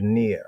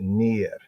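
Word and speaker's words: נר: So we have near. Phonetically, that's how it goes right there, near, near.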